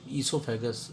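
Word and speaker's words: oesophagus: the term for five esophagus oh is silent here and uh then stomach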